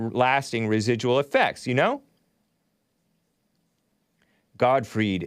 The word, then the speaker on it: Gottfried: residual effects you know god freed is how it's pronounced don't talk crap about